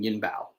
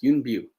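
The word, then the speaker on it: Yuen Biao: say i've talked about him before and i've mispronounced his name it's calling him yin bao it's not bow it's b it's yoon view anyway there are the three dragons they they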